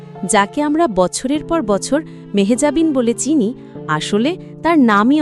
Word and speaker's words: মেহজাবীন: মেহজাবিন জানালেন, আমরা যেভাবে তার নাম উচ্চারণ করি মেহজাবিন, আসলে তা পুরোপুরি সঠিক নয়। তার আসল নামের উচ্চারণ মেহেজাবি, যেখানে শেষের ন আসেই না।